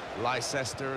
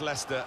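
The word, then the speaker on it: Leicester: of the world try to learn how to pronounce their name lyse ester Ally Chester we got a lot of that didn't we but very much Lester and very much the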